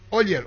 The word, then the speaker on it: Oller: Viene más, Juan Cruz Oller está con él, su representante, se escribe Oller, o se pronuncia Oller.